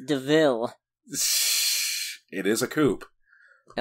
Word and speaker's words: DeVille: this car is called it's a devil pronounced DeVille it is a coop